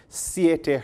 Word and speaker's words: Siete: Hair care products from Siete Herbs. I think that's what we pronounce, S-I-E-T-E. Look like Siete as in 7.